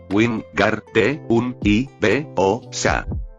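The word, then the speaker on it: Wingardium Leviosa: Wing Gar un I B O Sa. En el momento en que se pronunció el encantamiento, Hon percibió algo especial.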